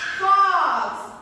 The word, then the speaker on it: fox: While we are pronouncing, it automatically becomes as A. Okay, the spelling is O and the pronunciation is A.